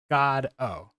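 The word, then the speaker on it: Godot: Waiting for God and waiting for God is pronounced like this God o and I wonder if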